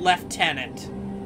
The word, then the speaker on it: lieutenant: British pronunciation Superior I they call Lieutenant left tenant so I don't think